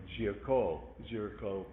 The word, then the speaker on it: Géricault: Géricault is the artist's name, and we look at that and say, okay, that's how you pronounce that. Just kind of like our word Jericho.